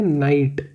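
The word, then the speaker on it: Knight: तो फिर यहाँ पे भी देखो के बाद में एन है, तो इसलिए हम इसको नाइट नहीं पढ़ते, सिर्फ पढ़ते हैं नाइट राइडर्स। क्या पढ़ते हैं, नाइट।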